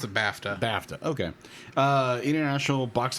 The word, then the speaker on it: BAFTA: B looks like baa baa yeah but they pronounce it bafta bafta okay uh international box office weekend with